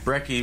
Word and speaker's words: Brey: bed and breakfast but okay Brey which rhymes with Trey is just another way